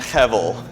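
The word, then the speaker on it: הֶבֶל: The idea of, how do you pronounce it again? Hevel.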